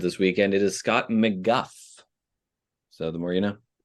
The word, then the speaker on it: McGough: that answer and uh the answer is McGuff it's pronounced Scott McGuff I know during my